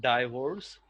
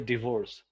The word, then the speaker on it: divorce: And this one is commonly pronounced divorce. But there is no die, it's a divorce. Divorce. Yes. Divorce. Yeah. And here it is not bha, it's a va, divorce.